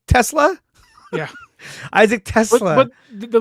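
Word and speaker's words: TeSlaa: Tesla?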